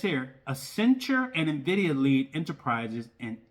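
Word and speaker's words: Accenture: company called as centure I think I said it right asent asent no a it's called a centure yeah a centure is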